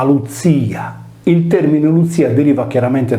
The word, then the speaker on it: Klutìa: Nella linguistica antica solitamente la consonante sorda iniziale che precedeva la liquida, in questo caso la C che anticipa la L, non veniva pronunciata e serviva per rafforzare la stessa liquida L, per cui la parola greca glutia diventava luzia.